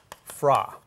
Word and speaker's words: FRA: forward rate agreements forward rate agreement which is pronounced fra stigm talks about this and if you talk